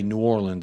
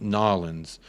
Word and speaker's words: New Orleans: and they told me, you don't say New Orleans, it's pronounced Nolans.